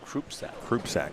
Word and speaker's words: Krupsak: I asked him how to pronounce his name properly. It is a Krupsak, by the way.